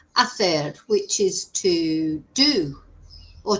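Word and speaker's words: hacer: You've got ather, remember we don't pronounce the H, ather, which is to do or to make, and tener, which is to have.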